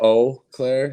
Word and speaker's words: Eau Claire: than everywhere else but i usually go oh claire you know like uh just a solid o but that's definitely the midwest in me we extend